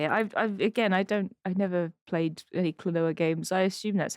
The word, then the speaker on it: Klonoa: I never played any Klonoa games. I assume that's how you pronounce it. How do you pronounce? I don't think I've ever seen them before. Yeah, Klonoa.